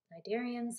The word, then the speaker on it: cnidarians: and we've got the cnidarians and the cnidarians and the tena fours the C is silent and both of these